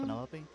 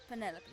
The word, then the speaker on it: Penelope: Is that short for Penelope? Officially, yes, but I never can be bothered with all four syllables of it. Penelope sounds a little ostentatious coming out of the mouth, don't you think?